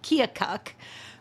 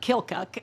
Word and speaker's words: Keokuk: So I told Joe Baer, I said, it's pronounced Keokuk, but locals call it Kilcook.